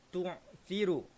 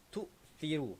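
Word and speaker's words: تؤثرون: Kadang-kadang tuan-puan, kita terbaca huruf hamzah yang mati ni dengan huruf ain. Macam mana cara bacaan dia yang salah ini? Tu'thiru. Okey, tu'thiru. Jadi itu adalah salah satu cara bacaan yang kurang tepat. Okey, tu'thiru kurang tepat. Bacaan yang paling tepat ialah tu'thiru.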